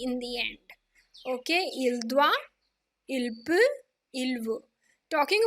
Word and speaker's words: doit: Okay, je dois, tu dois, il doit. Let me remind you, the pronunciation is the same. It is not S and T in the end are not making a difference to the pronunciation.